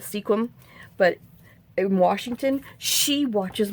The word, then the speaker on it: Sequim: Oh, y'all, I meant to tell you too that my aunt, who lives up in, I think they pronounce it Squim, I call it Sequim, but in Washington, she watches my little YouTube thing.